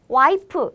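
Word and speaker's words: 와이프: also commonly used but have you noticed in korean we don't have f sound so we replace the f pronunciation with p sound so instead of wife we say y p y so for wife we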